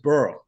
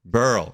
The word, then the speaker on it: Behrle: it so yeah man the H is silent it's just Burl Burl okay Burl from